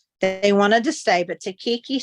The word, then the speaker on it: Takiki: I'll spell it. T-A-K-I-K-I. Takiki.